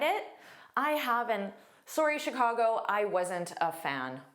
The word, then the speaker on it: Chicago: So, notice that sh pronunciation. Sh. Sh. And it's an unstressed vowel for that I sh Chicago.